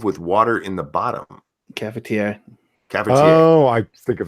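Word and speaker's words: cafetière: Caferte, is that how you say it? Krona. Caferte goes on stove with water in the bottom. Cafetiere.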